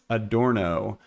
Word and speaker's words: Adorno: Rogue Wave says they mispronounced it. It is Adorno.